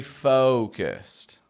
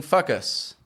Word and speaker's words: focus: Stay focused. Now, with the word focus, if you don't pronounce it clearly in the O sound, it's going to sound like you're saying fuckus.